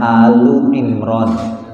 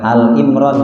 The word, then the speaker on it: Ali Imran: Kalau tanpa kata surat sebetulnya kita bacanya Au Imran gitu ya. Au Imran apa? Al artinya keluarga ya. Bukan Al Imran ya.